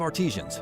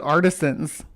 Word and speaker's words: artisan: Is it artisians? No way. Have I been saying it wrong all this time? I'd say artisan. It's spelled like artisan, not artisian. A R T I S A N.